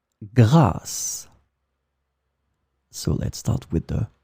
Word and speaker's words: grâce: In this lesson, we will discover together two words that are written differently but pronounced the same way. Grâce, grâce.